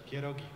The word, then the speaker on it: pierogi: How do you say not dumplings, but Pierogi.